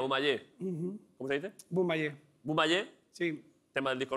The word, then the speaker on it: Bumaye: Bumaye.